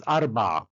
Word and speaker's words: Arba: Number 4, it's written like that in inscriptions, and it's pronounced or written in letters as Arba, Arba, Arba, Aleph, Resh, Bet, Ain.